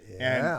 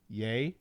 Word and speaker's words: Ye: All right, so first up is Kanye, or Ye. Did I say that right, guys? Yeah, yay. That's how you pronounce it.